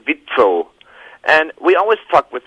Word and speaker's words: WIZO: French we all say weasel Ah that's awesome you know we we you know in German if you would if you would pronounce weasel the right way in German that you would say vitro and we always talk